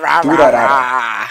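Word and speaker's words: Durarara!!: Durarara. I would pronounce it Durarara.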